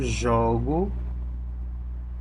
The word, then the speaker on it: jogo: Esse jogo, jogo, ele será, né, mais esse jogo ele será mais aberto. Aí é como se ele tivesse o som de um O assim, mesmo O de avó.